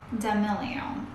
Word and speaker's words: D'Amelio: In fact, she actually gets a lot of How does she pronounce her name? Charli D'amelio.